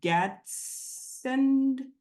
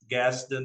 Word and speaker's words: Gadsden: I want to start from the beginning, and please correct me because my pronunciation sometimes goes way south here. But you were born in Gadsden, Alabama. Gaston, Alabama.